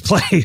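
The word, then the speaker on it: Pley: maher i'm actually talking about james clay james play okay is that his actual last name jamesplay but he spell it p-l-e-y oh okay so one letter off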